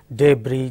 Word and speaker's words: debris: if not succeeded by a wobble sound it is silent just like debris GE BR is debris chass is chassis like